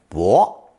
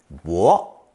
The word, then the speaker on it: 薄: Pronounced second tone, 薄, 薄.